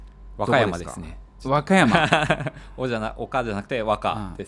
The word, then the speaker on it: 和歌山: Wakayama. Oka chứ không phải Waka nhỉ. Nhắc lại một lần nữa được không? Ở đâu vậy? Wakayama. Wakayama.